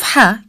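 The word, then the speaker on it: ح: The sound of ha comes from the middle part of throat.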